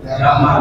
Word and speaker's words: Jamal: karena lidahnya sudah cocok makanya orang Mesir Enggak bisa nyebut enggak bisa nyebut jim jim Jamal Bacanya apa Gamal Gamal makanya presidennya siapa Gamal Abdul Nasir sebetulnya Jamal Jamal sama ke Indonesia asag